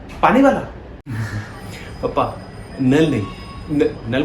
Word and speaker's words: Knull: पापा नल नहीं, नल मतलब KNULL, वो वाला नल, बट के साइलेंट है उसका।